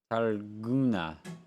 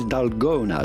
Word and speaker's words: Dalgona: This is Targuna. Why does it Guna? This is G-U, but it's spelled G-O in English.